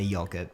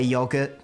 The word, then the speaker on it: yogurt: It doesn't quite make sense when we say yogurt because you would say yo for yo-yo or yo man. Do I still say yogurt to the person at the yochi counter?